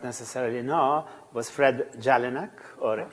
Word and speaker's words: Jelinek: necessarily know was Fred Jelinek, or Jelinek, in the correct, or more or less correct Czech pronunciation, since he was from Prague.